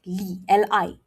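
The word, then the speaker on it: lí: So for tone 2, you say it like this. Li, li.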